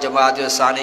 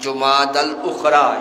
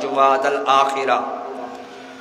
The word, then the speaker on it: جمادی الاخری: رواج ہے اس کو، پہلے تو یہ ہے کہ اس میں تلفظ ہی لوگوں کا درست نہیں ہوتا، جمادی الاول جمادی الثانی کہتے ہیں، حالانکہ صحیح تلفظ ہے جمادی الاولی، جمادی الاخری یا جمادی الاخرہ۔ تو یہ ثانی اس